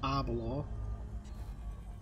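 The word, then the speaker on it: Aberlour: I think it's pronounced Arbalaw.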